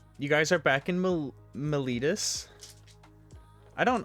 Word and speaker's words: Meletis: guys are back in militis i don't i don't i don't feel like it should be pronounced that way but that is the official magic the gathering pronunciation we learned ma litus and uh you dropped